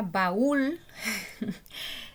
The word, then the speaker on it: baúl: La palabra baúl se tilda y es aguda. Es una palabra aguda porque el acento está en la última sílaba y se tilda aunque no termine en N o S.